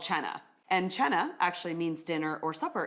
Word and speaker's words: Cena: And cena actually means dinner or supper in Italian. I learned That's that. cool. Isn't it? I didn't know that. Well, everyone says cena. It's spelled C-E-N-A, but it's pronounced Cena.